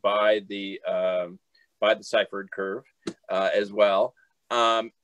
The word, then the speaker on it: Syphard: just a correction uh my last name is pronounced ciphered okay okay just you know in case people are talking you can correct them too thank you thank you most people want to say and um it just is pronounced differently than